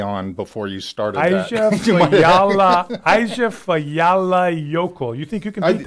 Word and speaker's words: Eyjafjallajökull: Okay, I'm going to go with Eyjafjallajökull. That's weak. This is how you say it. Eyjafjallajökull.